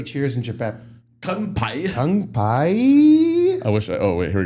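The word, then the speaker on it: 乾杯: Kanpai.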